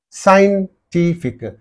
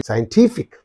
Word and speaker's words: scientific: one only therefore grammatical scientific so in this I is there okay therefore the syllable preceding the suffix is T that's why scientific scientific a electric again